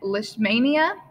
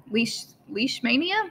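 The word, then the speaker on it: Leishmania: are things like malaria and lishmania leash leash mania i think that's how you say it and protozoa are one-celled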